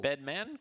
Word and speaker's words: Bedman?: You have to say it every time, Jay. Yeah, you got to say it like it's always a question, So when Bedman.